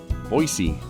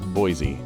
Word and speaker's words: Boise: It's pronounced Boise, not Boise, a testament to the importance of embracing local nuances.